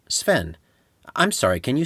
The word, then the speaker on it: Sven: Stephen? A kid, an operator, a substitute teacher, or a new coworker might say. No, my name is Sven. Seven? No, Sven.